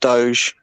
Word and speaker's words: doge: oh no no no is is firstly it's pronounced doge um and secondly yeah this isn't a crypto